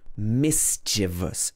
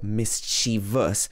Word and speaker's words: mischievous: But the full adjective is mischievous, not mischievous or mischievous, but mischievous.